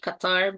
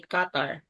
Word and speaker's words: Qatar: the country's name um actually the locals will call it Qatar but some would say Qatar yeah that's what I'm saying those are Qatar or Qatar and then